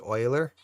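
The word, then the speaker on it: Euler: are thus to spell of uhler pronounced Oiler and just can do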